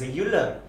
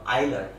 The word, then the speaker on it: Euler: love modified method so many of you might be reading this as euler that is an incorrect pronunciation uh its name is uh isler okay so that is